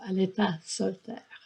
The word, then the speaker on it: Aletha Solter: En français, on le prononce Aleta Solter.